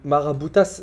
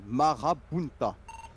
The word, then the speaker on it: Marabunta: Frérot, Maraboutas, c'est le nom d'un gang ou il fait référence à un gang? Non, non. Prononce bien, Marabunta.